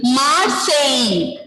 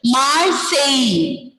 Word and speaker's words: Marseille: Then next the important famous city is Marseille. Marseille. Here you can see double L is there, but this L we are not pronouncing there. Marseille.